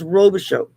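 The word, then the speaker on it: Robichaud: and then the last name is r-o-b-i-c-h-a-d it's pronounced robichaux okay so it's indeed is silent at the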